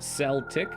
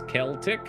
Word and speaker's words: Celtic: People pick one or another. Probably depends on accent. You just pronounce it Celtic, but I guess it's Celtic.